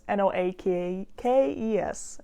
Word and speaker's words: Noakes: So the man was Elmo Noakes? I'm going to probably just refer to him as Elmo because I know how to pronounce that. But it's Noakes.